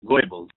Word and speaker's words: Goebbels: This is from Joseph Goebbels, pronounced Joseph Goebbels, the Nazi minister of propaganda.